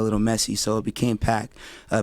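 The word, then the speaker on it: Paak: That's so But for you, is it Pac? It's P A K. So So it's it's a Korean name.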